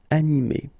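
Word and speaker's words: animée: But then the thing is that you don't pronounce it. So phonetically, you will get exactly the same form. So masculine form, animé, and then the feminine form, animé. Okay, you don't pronounce this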